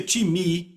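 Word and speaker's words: τιμή: A palavra honra vem do grego timi, que se soletra time, T-I-M-E. Eu digo time porque é a nossa pronúncia, mas se pronuncia timi, e quer dizer uma valorização.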